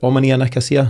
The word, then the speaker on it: Omonia Nicosia: I mean, there's a case there, and you're right in the face there this week with Neil Lennon's, is it Omonia Nicosia? Is that how you pronounce that?